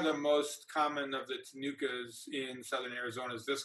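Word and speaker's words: Ctenucha: flying moth is the veined tanuka that c is silent i don't even know why it's in there that's what the name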